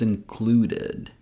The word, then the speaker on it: included: She says, "For this one, we're going to use option number three since it ends in a D sound. So, we pronounce it as included.